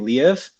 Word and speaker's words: Liev: Liev.